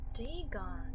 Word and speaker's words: Dagon: Once I sought out a celebrated ethnologist and amused him with peculiar questions regarding the ancient Philistine legend of Dagon, the fish god. Dagon, that's how you say it.